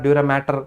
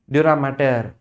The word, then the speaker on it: dura mater: Observe the spelling, it's not matter, it's mater. Mater means mother, maternal, paternal. That was the spelling, not matter, pia mater, dura mater.